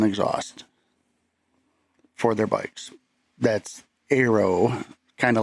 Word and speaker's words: ARO: If you pay attention to what's been going on with Indian, you know that they uh are launching their ARO, pronounced arrow, line.